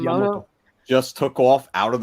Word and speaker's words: Yamato: Space Battleship Miyamoto? Yamato.